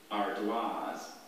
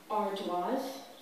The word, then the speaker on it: ardoise: Ardoise? Ardoise. A? R D O I S E. Ardoise. Correct. I think she was pretty sure of that all the way. And that was a classic French pronunciation.